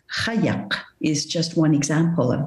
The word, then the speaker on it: qajaq: And the kayak, which I will pronounce kayak, is just one example of this, as you know.